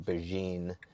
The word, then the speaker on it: Begin: then for the revealing releasing guy named Brian beine spelled like begin b b g i n he's